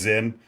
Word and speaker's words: Zyn: Cox, you're so healthy that you don't know it's pronounced Zen.